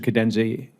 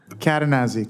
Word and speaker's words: Cadenazzi: Cadenzi, and am I pronouncing that correctly? Cadenazzi, close. Cadenazzi, thank you.